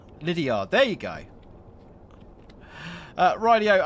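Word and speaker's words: Lydeard: Danny, it's pronounced Lydiard. Lydiard.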